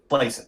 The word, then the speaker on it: Klassen: But right or is it Klassen? Did I say his name wrong? Klassen. It's Klassen. Oh, it's Klassen.